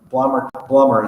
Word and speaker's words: Blommer: He was the 4th generation owner of Blommer is actually how it's said, chocolates.